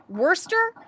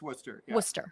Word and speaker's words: Worcester: Beardsley was returned to the now do we pronounce this Worster or Worchester it's uh neither it's actually ien to know this wer wer M I forgot I have a friend from it's it's Worcester they would say wer Wester yeah I forgot